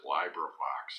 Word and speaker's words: LibriVox: Some people might pronounce it LibriVox. It's more like library that way, but I think it's LibriVox.